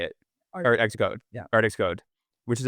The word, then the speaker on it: ArtxCode: Art Xcode.